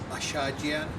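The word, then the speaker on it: Achadjian: Well, first off, how do you pronounce your last name again? It's Ashadjian. Ashadjian.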